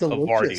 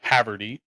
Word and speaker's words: havarti: are like havarti right I didn't know that it was pronounced Lombardi of course right yeah I thought it was Haverty how it's spelled but which one's better